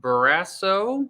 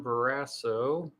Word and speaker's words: Barrasso: of all we've got uh john barrasso i think is how you pronounce his name john barrasso lost my spot here